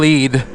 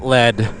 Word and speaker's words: Lead: Yeah, good old Lead. Or as the non-locals call it, Lead. Nope, sure fire way to tell if you aren't from here is if you call Lead Lead. And yes, it's that way. It's spelled like lead. But it's lead.